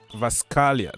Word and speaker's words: Kvaratskhelia: Okay, this guy here says that Kvaratskhelia, yeah, Kvaratskhelia, that is his name. I've been learning how to pronounce the Georgian brother's name, and I can say, you know, Kvaratskhelia.